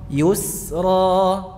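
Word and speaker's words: يسرى: yusro yusro yusro gini perhatikan yu y nah sampai pada pengucapan sinnya tidak usah mencucuk Ya. Yusro ada ya. Yusro. Yusro. Iya. Betul. Begitu ya. Tapi juga perlu di ee perhatikan hindari berlebihan ketika mengembalikan posisi bibirnya. Setelah dammu syafatain mencucu yu gitu ya. Mencucu pada pengucapan ya madmumah yu.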